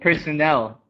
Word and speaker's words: personnel: the rest of these personal and personnel here the emphasis is on the first syllable and here it's on the last no eligible illegible um